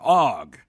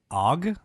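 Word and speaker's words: ague: with a high fever OG yeah what's OG yeah I understand how do you spell that word a-g-u-e so argue without the r yeah weird it's probably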